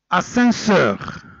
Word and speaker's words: ascenseur: Ascenseur, ascenseur. Regardez bien, même s'il est entre deux voyelles A et E, mais le mot il est comme ça. Ascenseur ou mas'ad, ça s'écrit comme ça.